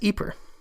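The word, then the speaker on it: Ieper: for the city but the city is actually located in the Flemish region of Belgium and I am told they pronounce it as eer and it is spelled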